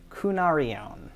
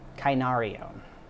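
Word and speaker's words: κυνάριον: the root of it, for little dog is kunarion. Kunarion. And so the sort of the way that he uses it, yeah, is very specifically a small dog, little dog, puppy, all those kinds of things. Kainarion.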